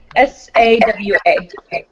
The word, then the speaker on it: Sawa: S-A-W-A. Sawa. Just like a doorbell, Devon Sawa.